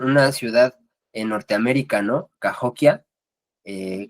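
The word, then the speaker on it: Cahokia: Cahoquia, eh, Cajoquía o no sé cómo se pronuncia. Cahoquia, sí.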